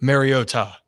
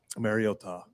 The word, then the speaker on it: Mariota: I just figure out it that is how Marcus pronounces. Mariota. Mariota. Mariota.